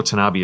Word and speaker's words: Tanabe: a programmer named um i think it's kanuke tanabe i know tanabe is how you pronounce the gentleman's last name tanuke kanabi and